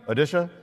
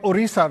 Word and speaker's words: Odisha: normally hear about but what's the pronunciation now odisha odisha right we used to call it orisa When We Were Young so just to